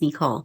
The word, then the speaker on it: Nicole: as Nicole, but in our family, she is Nicole. That's the way you say her name. So we'll get the pronunciation out.